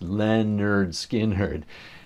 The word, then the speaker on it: Lynyrd Skynyrd: the album cover yep Leonard Skinner's first album pronounced Leonard skin herd it's a hilarious title